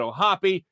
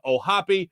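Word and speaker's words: O'Hoppe: then you also have logan o'happy yes that's how you pronounce his name ohapi who's a catcher in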